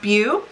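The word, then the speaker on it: Bhu: It's spelled B-H-U. I believe it's pronounced Bhew.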